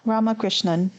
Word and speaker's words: Ramakrishnan: i just texted you that's how you say her last name yeah so rame ramakrishnan okay my three ramakrishnan yeah